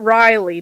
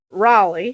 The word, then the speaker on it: Raleigh: He um, he told me how to say it's not Riley, North Carolina. It's Raleigh.